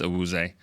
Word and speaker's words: Awuzie: the locker room that that's not my name. That's not how you say it. We were like Cheeto Awuzie. It's just Awuzie.